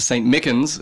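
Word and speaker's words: St. Michan's: But tonight at St. Mickens, as far as we understand, that's the pronunciation.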